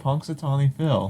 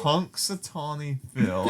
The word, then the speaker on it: Punxsutawney: You know, It's spelled punks as in Punx, Punx. Sutawney.